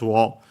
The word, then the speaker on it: を: But yeah, what we hadn't seen last time was that then we have the object particle o written as wo, and pronounced as such in careful speech and also singing, and then the verb furu.